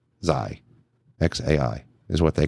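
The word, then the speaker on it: X Æ A-12: It's just X, like the letter X, and then AI, like how you would say the letter A and then I. So his name is XAI. Zai.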